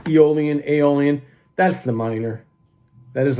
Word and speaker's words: Aeolian: If there's one thing I want you to kind of know is that the Aeolian, or to pronounce Aeolian, Aeolian, that's the minor.